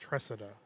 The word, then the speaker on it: Tresa: confirmed last name pronunciation it's just tresa there's no Tre she's playing with Robertson